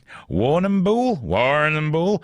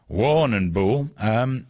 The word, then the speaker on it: Warrnambool: Well, apparently at Brower College, which is in the town of, Warrnambool? I can't pronounce that, there's too many letters. Why is there 2 R's in it? Warrnambool.